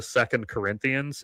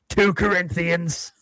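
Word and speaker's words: 2 Corinthians: completely not a Christian because he referred to second Corinthians as it is always pronounced as two Corinthians.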